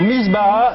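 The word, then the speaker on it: misbaha: Oui, c'est ça, mais comment prononcez-vous Misbah. Alors, misbah, M-I-S-B-A-H-A.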